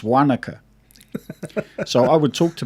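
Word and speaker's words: Wānaka: me funny and go oh you mean wanaka i'm like no i mean wanaka so it's such a simple yeah a subtle difference and yet it's enough for other people to go oh you said it wrong i'm like actually you're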